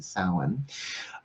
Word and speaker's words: Samhain: interestingly enough salmon Halloween I call its Alan si ma chyann but it's south spell that's how it's spelled how it sounds is like s o w e'en salen it is the final